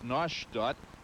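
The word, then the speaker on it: Neustadt: Newstead, pronounced in German as Noshot, means new village.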